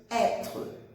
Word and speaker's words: être: Então, o verbo être, com acento circunflexo, vai fazer som aberto, être, être. E a letra E do final não é pronunciada, como a gente já viu. Então, é como se morresse na letra R, como se fosse um R mudo, né?